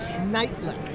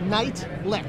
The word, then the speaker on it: Nietlich: this right Neti night lick night lick night lick like like night and lick night lick like two words I'm half German so